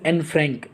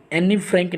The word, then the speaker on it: Anne Frank: Diary of एन फ्रैंक, एनी फ्रैंक नहीं होता है। आप में से बहुत सारे बच्चे क्या करते हैं कि एनी पढ़ते होंगे इसको, लेकिन ये एनी नहीं, प्रोनाउंसिएशन इसका एनी नहीं होता है, एन फ्रैंक होता है।